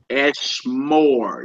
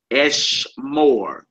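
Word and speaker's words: אֶשְׁמֹר: Eshmar. Eshmore. You see that dot above that mem? Yes, yes. Eshmore.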